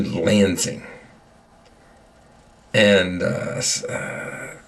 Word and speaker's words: Lansing: Our our goal is to watch Tommy graduate in Langing. Langing. Uh that is um South Langing. It is the university. Don't say it wrong. um lensing into Lansing and uh uh it's uh Michigan State University.